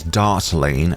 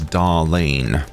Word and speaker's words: Dartling: And sometimes I may mispronounce Dartling as Darlene. Forget the T, you are my darlings.